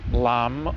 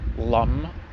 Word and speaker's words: lam: The Bij mantra, the seed, syllable, sound, is lam or lum, depending on which section of India you go to.